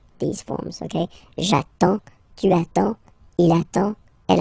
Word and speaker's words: j'attends: So the first form will be j'attends, j'attends, okay? You get D and S, well, basically you don't pronounce them, okay? And then you get only the sound attends, nasal here, en, en, j'attends, okay?